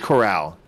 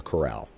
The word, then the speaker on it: Corral: matt coral carl corral i believe it's i think it's corral well it's spelled like corral yeah two r's yeah i think i've heard